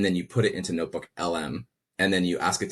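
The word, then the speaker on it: NotebookLM: Now you take that 60-page report and then you put it into Notebook LM and then you ask it to generate an audio podcast.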